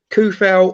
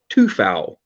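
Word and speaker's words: Coufal: So we had obviously Fabianski in goal, Kufal, or actually no, I'm pronouncing it wrong because there was the West Ham awards yesterday, and the man himself has said that it's pronounced Tufal by all accounts.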